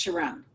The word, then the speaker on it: Sharon: And in the Middle East, Sharon is pronounced Sharon. And that's how I got my Sharon. So I always jokingly say it's like my Sharona without the A.